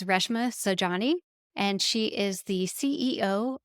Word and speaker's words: Reshma Saujani: And full disclosure, I don't think I pronounced Reshma's name correctly while I was recording this, so I want to go back through and make sure I enunciate correctly that her name is Reshma Saujani, and she is the